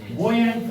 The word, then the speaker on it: buoyant: It is also called buoyant force. B-U-O-Y-A-N-T. Here, U is silent, right?